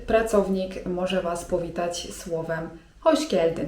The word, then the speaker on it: hoş geldin: To wtedy pracownik może was powitać słowem: hoş geldin (czyt. hosz geldin) I to oznacza po prostu 'witaj'.